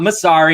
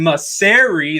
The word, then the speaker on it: Massare: Sorry, it's not Massare, it's Massare.